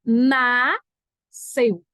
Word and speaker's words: nasceu: É nasceu, S mudo. se o S é mudo, como é em piscina, como é em nascimento, como é em descer, não é descer.